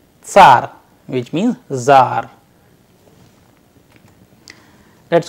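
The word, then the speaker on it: царь: A sample Russian word we have used which is again very similar to the English word, but the pronunciation is little different. Let us pronounce it tsar, tsar, which means czar.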